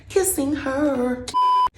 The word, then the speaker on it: Kissinger: Henry Kissinger, am I saying it right? Kissinger, kissing her.